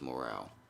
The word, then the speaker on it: Morale: It's not Morrow, it's Morale. Mr. Morale and the Big Steppers. That's how you say it.